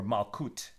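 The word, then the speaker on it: מלכות: Bill, Malchus, right? Kingship, or Malkut, if you want to pronounce it more Sephardic, also includes the material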